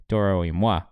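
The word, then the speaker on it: Toro y Moi: I think Moi, because that's how it's spelled, and that's how the French would say it.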